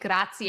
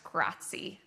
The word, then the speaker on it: grazie: By the way, make sure that when you do say grazie, that you're saying grazie and you're really pronouncing that at the end and not just grazie.